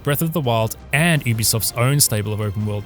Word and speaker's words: Ubisoft: shadows of both breath of the wild and ubisoft's own stable of open world titles to carve